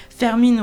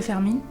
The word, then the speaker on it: Fermín: J'ai lu son nom, alors maintenant je sais qu'on dit Fermín Romero de Torres. Enfin, de Torres même, il y a un S, je crois. Donc Fermín Romero de Torres. Et je suis désolée de l'avoir mal prononcé, mais j'avais pas regardé l'orthographe avant. Donc désolée Fermine. Parce que bon, c'est un